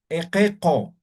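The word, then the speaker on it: iqiqu: Esta I está después de la Q y antes de la Q. También se va a pronunciar como si fuera E. Esta U está junto a la Q, por lo tanto se va a pronunciar como si fuera la letra O.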